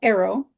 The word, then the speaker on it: Aero: Typically, I channel Arrow, and their name is spelled Aero.